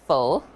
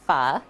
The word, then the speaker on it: pho: It's not pronounced pho. It's pronounced pho.